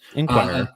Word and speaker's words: Inquirer: Smith of the Philadelphia Inquirer. I think I'm saying it right. Yes. Inquirer. Yes, you got it.